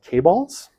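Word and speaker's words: chaebol: I think it's pronounced K-balls.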